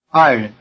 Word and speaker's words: 爱人: 爱人, 爱人, 爱人. Notice that in the word 爱人, the second syllable has the neutral tone.